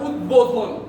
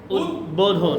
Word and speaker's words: উদ্বোধন: এর বাইরে আমরা আরেকটা শিখলাম, যদি বফলাটার আগে ওই শব্দ বা বফলাযুক্ত শব্দটা উদ উপসর্গ বা উদ উপসর্গ যোগে গঠিত হয় তাহলে ওই বয়ের উচ্চারণ বয়ের মতোই থাকবে।